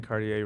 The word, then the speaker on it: Cartier: Cartier. For the typical French pronunciation with the typical French R, say Cartier.